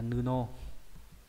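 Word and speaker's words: 布: Đọc là nuno. Nuno nhá.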